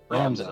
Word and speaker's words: Ramza: Because I've always pronounced it as Ramza. Yeah, Ramza. That's how I pronounce it. Ramza. That's the proper pronunciation.